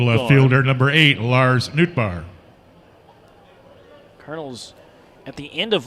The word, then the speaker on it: Nootbaar: midwest League this year Lars Newt bar it's spelled n-o-o-t -b-a-a-r pitch from in-law hard